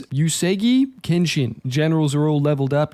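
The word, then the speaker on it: Uesugi Kenshin: I think I've been saying Yuseji. I think it's Yusegi Kenshin.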